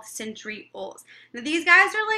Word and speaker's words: centriole: So I always remember that centriole rhymes with pole.